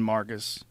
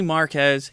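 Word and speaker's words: Marques: And then Marcus, anybody who... That's how you say his name? Marquez? Marquez. I say Marquez. He doesn't care if he's Marcus or Marquez.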